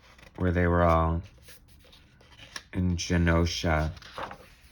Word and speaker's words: Genosha: I always said it was Genosha, but then I think on the X-Men cartoon they were like Genosha, and I was like, oh crap, I've been pronouncing it wrong all this time.